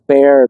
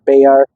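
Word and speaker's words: Bexar: a county seat a beay County uh it's spelled you know with an X so people mispronounce it but it is beay beay um this is one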